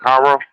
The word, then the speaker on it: Cairo: Cairo. Oh, K. Yes, K. Man, why don't they just replace the C with a K and make it easy? Okay, my bad. That won't tell you nothing because Cairo ain't here no much.